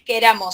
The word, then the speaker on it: queramos: Es queramos, ¿sí? Si bien nosotros lo pronunciamos a veces con dos, es con una sola. No es con doble R, ¿sí? Viene de querer con una sola R.